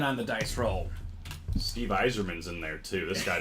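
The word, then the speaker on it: Yzerman: Am I right, Robbie, how did Colin pronounce him? Userman. It's Eiserman.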